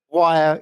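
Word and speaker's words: Wyre: Is that how you say it? Wire is actually a good way of putting it.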